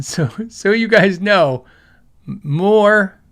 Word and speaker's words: MOOER: Uh so so you guys know, MOER is is pronounced like moo, like a cow, MOER.